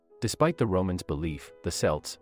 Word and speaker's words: Celts: the romans belief the celts pronounced with a hard c or k sound were anything but barbarians